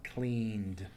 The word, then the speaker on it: cleaned: The N is the ending sound here. So here it takes a D sound, cleaned.